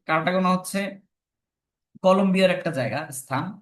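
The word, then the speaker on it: Cartagena: আরেকটা হচ্ছে কারটাগোনা প্রোটোকল এটার উচ্চারণ কিন্তু তোমরা কারটা জেনা অনেক কিছু দেখতে পারো কারণ বিভিন্ন ভাষা থেকে কনভার্ট করতো তো একক জায়গায় একটা থাকবে এটা হচ্ছে কারটাগোনা হচ্ছে কলম্বিয়ার একটা জায়গা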